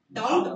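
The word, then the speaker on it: doubt: Next we have डाउट और डाउट डाउट B silent है।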